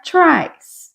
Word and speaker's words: tries: Então, eu vou tirar o y e acrescentar ies, vai ficar tries. Tries, lembrando que o E não é pronunciado.